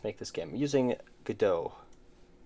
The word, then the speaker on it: Godot: I'm using Godot. Pronounced Godot. It has a silent T at the end. Godot.